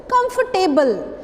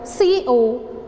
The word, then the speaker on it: comfortable: Please sit down and make yourself comfortable. But this is not right. This word comfortable is comfortable. Comfortable means what is silent here?